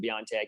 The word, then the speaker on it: BioNTech: BioNTech, that's how you pronounce it? There are different ways of pronouncing it. Even internally, they pronounce it differently. But yes, that's why I pronounce it BioNTech.